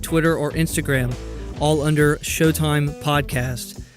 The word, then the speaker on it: Sheauxtime: or instagram all under showtime podcasts that of course is spelt the Cajun Way sh e aux time podcast also if you'd like to